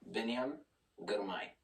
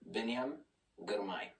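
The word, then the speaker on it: Biniam Girmay: And it just definitely helped with the Biniam Gourmet's name. So check this out. This is to Myron. Biniam Gourmet. Thank you. I really appreciate that. Biniam Gourmet. See that? Biniam Gourmet.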